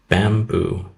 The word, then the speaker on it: Bambu: but in this case a company called bamboo but it's spelled Bambu they make um a